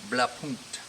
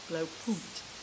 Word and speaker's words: Blaupunkt: Jim, how do you pronounce this? Blaupunkt. Blaupunkt.